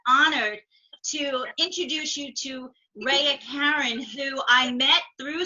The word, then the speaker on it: Raya: So Raya, am I saying it right, Raya or Raya? It's Raya.